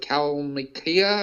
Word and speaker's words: Kalmykia: Right, but I mean, there's been other people too, like the former president of Russia, the Republic of Kalmykia, I believe it is pronounced.